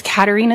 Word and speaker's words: Katarina: My name is Katarina. First name is spelled K A T A R I N A.